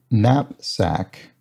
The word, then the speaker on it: knapsack: um bag that is spelled with a silent k at the beginning and so either nap